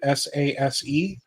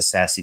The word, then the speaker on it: SASE: For example, Total combines SASE, I think is the right way to pronounce it, SASE, SIM, MXDR, endpoint security, GRC, and more into a single agent cloud-first platform.